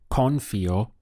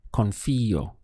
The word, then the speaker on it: confío: Saying I trust in Spanish is confío. So we have con followed by fío. Notice the accent over the I. That's important because if you said confío, it wouldn't be understood. It must be confío.